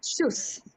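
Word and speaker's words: Tschüss: good பாய் அப்படின்றது வந்து ஷூஸ் ஷூஸ் சி வந்து silent ஷூஸ் ஷூஸ் yeah welcome please இப்ப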